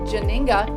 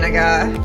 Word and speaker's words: Janiga: The fabulous Janinga. Did I pronounce that right? Your last name, Danaga.